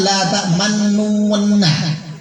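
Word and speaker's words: لَا تَأْمَنَّا: Untuk moncongnya diganti, diletakkan pada akhir. Lihat sini semuanya. La ta'manna. Seolah-olah bunyinya la ta'manna. La ta'manna. Akhirnya ya. Coba kita praktikan semuanya, jangan malu-malu, moncongnya sedikit terakhir ya. Dengungnya 3 harokat, akhir dengungnya moncong.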